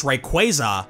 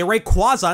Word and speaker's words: Rayquaza: This guy's official pronunciation is Rayquaza, but a lot of people say Rayquaza instead.